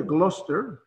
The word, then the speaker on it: Gloucester: la bahía de massachusetts cuarto de en inglés pronuncia gloucester en español se pronuncia glaus es blues esther